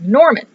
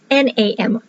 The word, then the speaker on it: Namorn: She inherited a bunch of land and estates in the country of Norman to the north. I am pronouncing this country correctly. I'll pull up the map in front here. Yeah, it's Norman. Nerlin. Mispronouncing things. Yeah, Nermorn. Yeah, it's Namorn. Whatever. I'm not good at pronouncing things even in my own head.